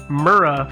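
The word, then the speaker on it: Murrah: if I do sorry it's the Alfred P murra Federal Building yeah that's how it's pronounced oh is it every time I said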